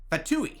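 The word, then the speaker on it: FTUE: what we called F2 ftu in Dev lingo meaning first time under user experience pronounced fatou took longer than expected we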